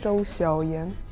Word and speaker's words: Zhou Xiaoyan: And the correct way is to say it as the third tone, Zhou Xiaoyan.